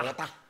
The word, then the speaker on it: Bogotá: Porque los rolos, como los juapis, sí, vale, pronuncian el ta, tiene que ser Santa Fe Bogotá. Bogotá. Sí, obvio. Así, y además como susurrado, Bogotá.